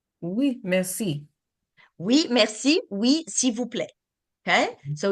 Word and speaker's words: s'il vous plaît: So you will see a lot of words that you see the letter, but you don't really hear it. Mhm. Mhm. Like this one. S'il Mhm. vous plaît, it's supposed to be s'il vous plaît.